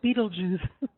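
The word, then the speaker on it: Betelgeuse: which is well it's kind of hard to pronounce Beetle Juice I mean you've probably heard it but this is how it's really spelled okay so star D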